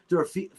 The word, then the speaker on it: Dorofeyev: If you throw in Dorofeyev, how do you say his name again?